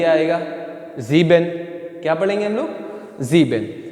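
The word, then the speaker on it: sieben: ठीक है, इसी तरह नीचे भी आएगा जीबेन।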